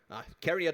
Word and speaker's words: CARIAD: Yes, and CARIAD was the right pronunciation, so Lukas would start with some words about CARIAD and what we do.